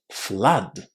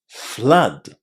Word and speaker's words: flood: There are just two words in English where double O is pronounced as a short a and they are flood and blood. Today we're focusing on flood. So just remember that the double O here is pronounced in exactly the same way as the vowel inside just and but flood.